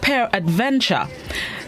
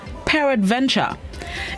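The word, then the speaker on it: peradventure: this morning's word of the day is this it's spelled p e r a d v e n t u r e pair adventure it's an adverb which means it may be maybe possibly or perhaps pair adventure it is an adverb and as a known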